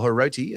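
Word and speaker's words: Hiroti: Uh so then we've got Jesse Ramian in the centers with cult hero now of the Sharks fans, Marwin Herotti or Heroti as it's pronounced.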